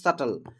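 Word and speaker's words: subtle: ইট ওয়াজ টু সাটল, সাটল মানে হচ্ছে অত্যন্ত সূক্ষ্ম, সাটল মানে অত্যন্ত সূক্ষ্ম, এটা সাবটল না, কিন্তু এটা উচ্চারণ হবে সাটল।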